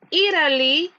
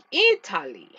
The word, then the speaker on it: Italy: Se cree que la T, tanto como la T como la D, cuando van entre vocales, creo que se hace como una pronunciación R, ¿verdad?